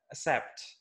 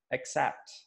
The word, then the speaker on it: accept: I usually hear that people or Indonesian student pronounce this as a except yeah if you have you pronounced their accept not accept so the way to pronounce this correctly is accept so accept you can see this this is